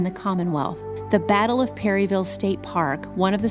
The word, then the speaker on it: Perryville: She's the Executive Director of Main Street Perryville, or as the locals say, Perryville.